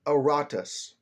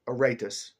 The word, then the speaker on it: Aratus: Aratus or Aratus depending on your pronunciation.